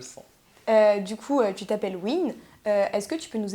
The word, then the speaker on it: Weenn: Sauf que Nolwenn, à la fin, s'écrit W-E-E-N. Et je me disais, ouais, non, les Américains, ils doivent prononcer ça Nolwenn. Après, je me suis dit, oh, Win, c'est pas trop mal.